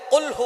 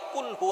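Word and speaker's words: قُلْ هُوَ: আল্লাহ পাক রাব্বুল আলামীন এখানে বলছেন কুলহু আল্লাহু আহাদ। এখানে কফ দিয়ে পড়ছেন কিন্তু অনেকেই ভুল করে উচ্চারণ সঠিক না হওয়ার কারণে তারা পরে কাফ। কুলহু আল্লাহ।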